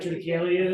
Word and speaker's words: triticale: a 8-year-old bourbon, a 10-year-old bourbon, and a triticale whiskey. He basically gave us the weird stuff, which was nice. The mash bill in the Days Defile has triticale in it. Does anyone know what triticale is?